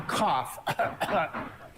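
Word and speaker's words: כף: BET do you see it's called a cough like if you were going to cough it's called cough yes and it has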